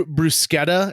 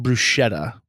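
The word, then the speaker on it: bruschetta: rube he is like he orders uh uh BR brusketta at one point and they they're like it's pronounced brushetta you know so and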